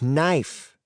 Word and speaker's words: knife: Finally, a yellow-haired girl in the class called out, "It's knife. The K is silent."